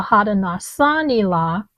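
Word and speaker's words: Haudenosaunee: H A U D E N O S A U N E The Hadasani.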